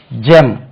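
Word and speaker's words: gem: க என்று உச்சரிக்க வேண்டும் then again G இம் ஜெம் this is ஜெம் இதை நமக்கு தெரியாம இருந்தா ஃபர்ஸ்ட் டைம் வந்தா நம்ம கெம் என்று சொல்லுவோம் அது வந்து ஜெம் ஜெம் give ஜெம் right then comes க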